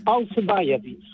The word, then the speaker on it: Alcibiades: I think it's pronounced Alcibiades. Could you give us a pronunciation that way? I don't just completely disrespect the pronunciation of your name. The name is Alcibiates.